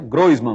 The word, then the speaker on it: Groisman: Não, não se espante não com a pronúncia. é Groisman mesmo.